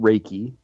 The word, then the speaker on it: Reiki: but help me with that uh it's actually pronounced raiki it it it's made from two different Japanese